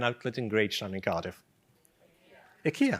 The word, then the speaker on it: Ikea: -Ikea! -Ikea, That is the reason they exist.